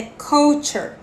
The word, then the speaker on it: couture: é tio teacher de forma alguma tá é couture couture couture E aí o forno Fischer que